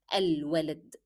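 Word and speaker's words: الولد: Again, lam is carrying sukoon and it is not followed by a shadda letter, and that's why it will be pronounced as any other letter. It will be al-walad.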